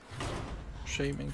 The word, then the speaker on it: Shaman: to play Shaman cards shaming clothes there is no w in it it's not Shaw it's Shay I mispronounced it a